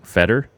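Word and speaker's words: foeder: I never know how to pronounce that word. Feder? Is that a Feder fermented? Foder.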